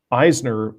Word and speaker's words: Eisner: how I pronounce Will Eisner's name. I say Eisner, and apparently it's Eisner. So I got to change the way I say it. So Frank was really influenced by Will Eisner, and Eisner was influenced by film,